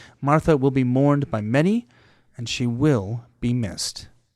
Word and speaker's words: Mara: It's pronounced ma. Okay, perfect. A little rolled to the R.